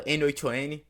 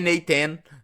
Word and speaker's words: n8n: Agora vamos falar sobre o N8N ou como muitas pessoas falam, N8N, eu não sei. E na verdade não é nenhum dos outros, dos dois, né? É Naten, né?